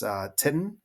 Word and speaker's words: titin: And another just point of interest is this titin, I believe is how it's pronounced, is it's another protein, but it has a lot of elasticity to it, which helps to give muscles elasticity.